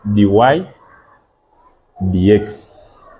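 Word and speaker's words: dy/dx: Some people may think that this is dy divided by dx, which is not correct. This one is read as dy dx.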